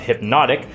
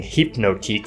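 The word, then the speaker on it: Hpnotiq: half an ooun of hypnotic which for a while I kept pronouncing hypnotique for some reason half an ounz of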